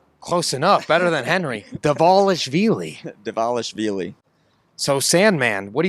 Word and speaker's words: Dvalishvili: at UFC 298 between Henry Cejudo and Merab Dvalishvili? Do you like the way that Henry pronounces Merab's name?